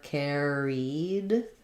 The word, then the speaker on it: carried: other word um carried for syllable stress it's like the word care um I'll rewrite it with build it from air Air Care carried you have the e